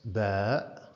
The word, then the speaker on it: ب: have the letter bad in Arabic it's pronounced bad in isolation and the equivalent consonant in English is B B now let's see